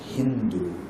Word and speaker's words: Hindu: say Turks and like they couldn't pronounce the word sa they pronounce sa as ha so while they were saying the land of sind it or land of sindu. They identified that land as Hindu.